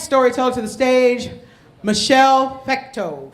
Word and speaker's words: Fecteau: So we're going to welcome our next storyteller to the stage, Michelle Fecteau. Fecteau, did I say it right?